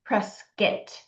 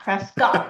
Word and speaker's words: Prescott: How do you pronounce it? Prescott. If you're from Prescuit, you say it Prescuit, not Prescott. Sorry, I said it wrong. It's Prescuit, not Prescott.